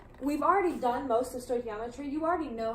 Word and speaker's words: stoichiometry: it with learning stoichiometry stoichiometry is pronounced oi key ah mah tree if we're gonna be